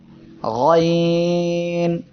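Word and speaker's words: غ: আজকে আমাদের এর পরের অক্ষর হলো গয়ন। এই অক্ষরে 3 আলিফ টান হবে। সবাই একসাথে উচ্চারণ করি, গয়ন। এই অক্ষরের মাখরাজ হলো কণ্ঠনালীর শেষ ভাগ থেকে, অর্থাৎ এই জায়গা থেকে উচ্চারিত হবে।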